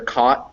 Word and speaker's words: caught: merger and that's when those two words c-o-t and c-a-u-g-h-t sound the same so when i say them they're caught and caught they're the same pronunciation because i do have that merger so that pronunciation right